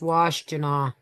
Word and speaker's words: Washtenaw: It's pronounced Washtenaw. Oh, Washtenaw County. Okay, I used to live in Washtenaw County even for a minute.